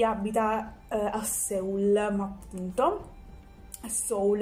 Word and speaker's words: Seoul: Seoul in realtà dovrebbe essere la pronuncia corretta, e dice che nel Sud Corea è molto festeggiato il Capodanno cinese.